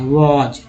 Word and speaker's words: was: जैसे कि WAS को क्या बोलते हैं, वॉज, न कि वास बोलते हैं, है ना, वॉज।